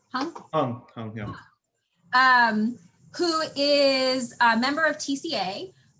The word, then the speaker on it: Hung: Hung, yeah.